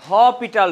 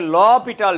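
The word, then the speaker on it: L'Hôpital: এই রুলটা দিয়ে করব এটাকে উচ্চারণ করা হয় হেটাল রুল বা অনেকে বলে ল পিটাল রুল হ্যাঁ আর লেখা হয় হসপিটাল ওকে যে যাই বলুক না কেন হপিটাল নরমালি হয় তো এই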